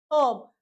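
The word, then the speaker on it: herb: जब एच हमारा साइलेंट हो जाएगा तो हम इसको क्या पढ़ेंगे? आवर ऑनर ऑनेस्ट ऑब ठीक है जब यहां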